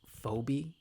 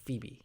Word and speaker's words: Phoebe: thing is I I I kept on thinking the the the sister's name was phobie because like phonetically that's how it's it's spelled but it's like Phoebe it's like okay like